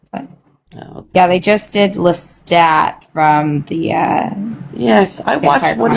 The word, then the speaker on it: Lestat: You never pronounce the last letter. If I was saying if it is supposed to be French, I don't know if it is, but if it is, then it's Lista.